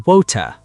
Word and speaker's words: water: In America, water or water. In Britain, water or wota.